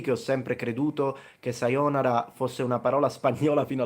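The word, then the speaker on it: さようなら: By the way, on the word sayonara, it's interesting because, by the way, it's not sayonara, it's sayonara. The O is long.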